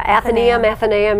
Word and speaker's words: Athenaeum: Athenaeum? Yeah, Athenaeum, you know.